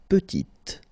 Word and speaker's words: petite: Il est petit, elle est petite. Okay, exactly the same idea. Final T is not pronounced, and then when you add this E at the end, you get the sound T, petite.